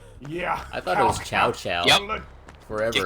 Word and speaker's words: Cao Cao: It took him like 4 entries before they got the right pronunciation. It used to be Cao Cao. Yeah. I thought it was Chow Chow. Yep. Forever. Cow Cow.